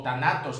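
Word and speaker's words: θάνατος: muerte está definida por tánatos o tanatos, como algunos les dicen. No olvidemos que esta letra griega en nuestro español sería un TH, pero se pronuncia como un DS.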